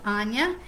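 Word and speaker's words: Aine: beginnings and this is anya is how her name is pronounced a i n e but it's pronounced anya and it says when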